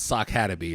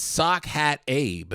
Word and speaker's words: Sock Hat Abe: He said, thank you, but his name is not Sock-Hataby. It's not how it's pronounced. I was fucking cracking up. And he breaks it down. I said, shit, you're right. It's Sock Hat Abe.